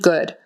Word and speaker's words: good: sure sure sure and good good with the Horseshoe u in the middle even though it's spell o that's how we um spell it sometimes like good book look so good you might be tempted to say good but it's not now if it had